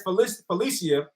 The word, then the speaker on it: Felicia: The next player is Felicia. I believe it's pronounced Felicia, not Felicia, Felicia.